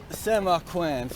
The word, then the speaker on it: Samarkand: So here I am, Samarkand, that's how they say it in Uzbek, Samarkand, the second largest city in Uzbekistan, on the Silk Road.